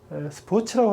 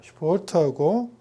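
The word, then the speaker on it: Sport: 독일 말을 할 때 한국 사람들이 많이 실수하는 게 스포츠라고 하는데 S가 일단 없고 발음도 슈포트입니다. 슈포트하고 아우스게인, 외출하는 거.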